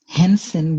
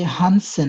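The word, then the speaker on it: Hansen: সমস্যা আমি আইডেন্টিফাই করলাম আপনারা হচ্ছে হানসেন হ্যান্সেন বলছিলেন আই গেস নাজমুল হাসান ভাই এটা হচ্ছে হানসেন হ্যাঁ আপনি প্রোনাউন্সিয়েশনটা করেন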